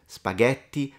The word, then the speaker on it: spaghetti: is teaching it right spaghetti not spaghetti so in this case they are taking into consideration the phenomenon of pronouncing the T as a soft D which is actually in linguistics called flapping and it tends to